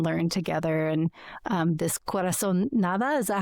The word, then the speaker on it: corazonada: how we can show up in community and learn together and um this corazon nada, is that how you say it? Corazon nada, yeah.